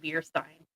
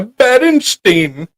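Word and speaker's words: Berenstain: um Mandela effect yeah so I always thought it was beer and s i n but apparently it was Baron San St a i n pronounced like beerstein yeah I always went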